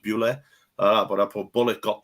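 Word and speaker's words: Bulut: It's spelled Bulot, but it's pronounced Bule.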